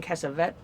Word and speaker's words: Cassavetes: I mean, it had Kirk Douglas, it had Amy Irving, it had John Cassavetes. Is that how it's pronounced? Cassavetes.